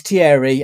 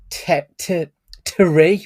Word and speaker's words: Thierry: Right, his name is Thierry, as in Henri, but they pronounce it Thierry almost. Yeah. Like, I don't know if it's because it's not proper French, it's American French. So that pissed me off all the way through that they weren't pronouncing it properly.